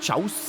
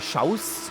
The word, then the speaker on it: Xaus: Er meinte eigentlich im Katalanischen würde es eine Art Chaus sein oder Schaus, aber man dürfte durchaus im Deutschen auch Xaus zu ihm sagen.